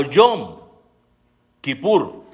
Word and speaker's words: Yom Kipur: la segunda en orden es pronunciada como yo kipur también en plural John